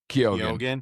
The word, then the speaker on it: Keoghan: But with Halle Berry and Mark Ruffalo and Barry Keoghan, is that how you pronounce his name? Keoghan.